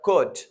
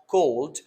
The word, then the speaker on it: could: simply drop it so here are the silent consonants such as wood not wooled or could not cold or the other word